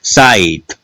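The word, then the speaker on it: site: इसमें देखिएगा साइट, ई अंत में है, उच्चारण नहीं हुआ।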